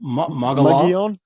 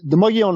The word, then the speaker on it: Mogollon: a cold night on the how do you pronounce that rim? Mogollon Rim. It's named after, I want to say, the first governor of the territory or something. It was a conquistador, I believe. Okay. Anyway, the Mogollon Rim is the southern edge of the Colorado